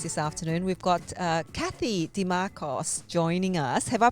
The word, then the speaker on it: Dimarchos: for joining us this afternoon we've got Kathy DeMarcos joining us have I pronounced your name correctly there Kathy perfect oh